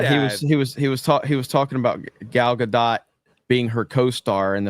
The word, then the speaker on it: Gal: Why did you pronounce her name Gail? did LOL. say it. It's Gal. Come on, Jay.